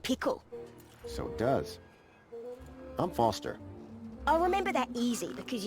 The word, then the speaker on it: Foster: so it does i'm foster i'll remember that easy because your name rhymes with fossil and you're old thanks kid what's wrong